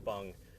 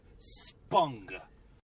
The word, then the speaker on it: spung: Spung. That's really important. Spung. Yeah, and you can spell it with S-P-U-N-G, or you can also spell it with an O, but it's pronounced the same way.